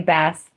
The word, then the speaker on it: bass: So, I wouldn't even say that you got it wrong if you say it like that, personally. So, it's kind of both, but it's definitely bass.